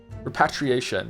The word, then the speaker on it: repatriation: How do you say it again? Repatriation. Because it's Patriot. Patriot. Yeah, there it is.